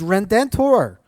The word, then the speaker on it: Redentor: This is probably unfamiliar to a lot of people, is Redentor. Now, in Spanish, you usually have to roll your R's. I don't do that great, so that's how I say it.